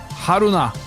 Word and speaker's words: Haruna: Haruna.